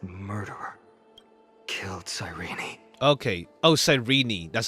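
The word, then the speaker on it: Cyrene: my eyes that murderer killed sirene okay oh sirene that's how you say his name be cool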